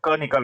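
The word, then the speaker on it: conch: तो कॉन्क लिखा है तो कॉन्क को हमने लिख के देख लिया, प्रोनाउंस किया, तो सी एच का उच्चारण, जो सी एच लास्ट में, उसका उच्चारण क निकल रहा है, तो हम इसमें सिर्फ एस लगाकर प्लूरल बना देंगे।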